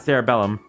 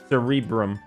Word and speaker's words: cerebrum: I know what this word is, I just can't pronounce it. Cerebellum. It's not cerebellum.